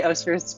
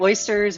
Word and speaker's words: Osters: is it Osters or Osters? I want to make sure I'm saying that right. It's Osters. Okay. It's definitely Osters. We get oysters.